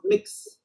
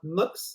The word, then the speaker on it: Mx: some people want to pronounce it more mux as if it was a u in between so to not uh